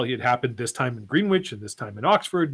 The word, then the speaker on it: Greenwich: Okay, yes, it is pronounced Greenwich.